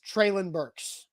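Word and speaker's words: Treylon Burks: hasn't gotten that bad but yes the official pronunciation has he said this this is coming from the tennessee titans traelin burks yes i got to hear treylin say that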